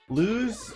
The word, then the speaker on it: Luz: And I think it's because, Luz, is that how you pronounce it?